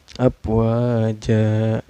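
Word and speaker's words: أَفْوَاجًا: Abwaja ya ini hukumnya mad iwad karena ada tanwin yang disukunkan karena waqaf ya. Cara bacanya tanwinnya diganti menjadi patah ya. Yang asalnya jan karena waqaf ini dibaca patah aja. Abwaja dan dipanjangkan 2 harakat ya.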